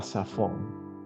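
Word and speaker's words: צָפוֹן: en hebreo es la palabra saón la palabra safon es norte en hebreo bíblico y hay una palabra que es igual se escribe igual pero cambia con una una yud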